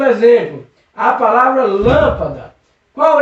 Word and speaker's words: lâmpada: Lâmpada. Percebeu que essa sílaba é forte, professor? Essa sílaba tem potência, essa sílaba é uma sílaba tônica, é uma sílaba forte, é uma sílaba que eu acredito que é para ser acentuada. É mesmo, professor? Isso mesmo. Lâmpada é uma palavra proparoxítona.